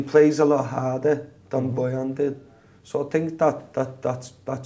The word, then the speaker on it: Boyan: I don't know how to pronounce his name. Boyan.